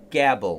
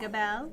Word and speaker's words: gabble: But take a guess at what gabble means. Gabble. That's the correct pronunciation. That's it, It's gabble. not gabelle.